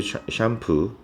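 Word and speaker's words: shampoo: 돼요 그래서 더 월드 샴푸 샴푸 이게 샴푸가 스트레스가 뒤에 있거든요 이번 문법 콤마 위치가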